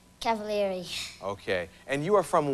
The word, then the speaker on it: Cavaleri: Now say your last name for me so I'll pronounce it right. Cavaleri.